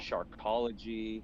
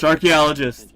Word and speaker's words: Sharkeologist: We had to make an explainer video for our Instagram because people kept saying Sharkeologist, Nope. Sharkology. Mm-mm. Like, you do your homework. Sharkeologist.